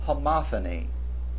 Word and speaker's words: homophony: Homophony, homophonic accent on the second syllable for the noun form and the accent on the third syllable for the adjectal form.